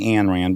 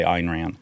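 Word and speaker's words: Ayn Rand: It's Einrand. Okay. But I say Anrand because I it sounds too pretentious to say Einrand.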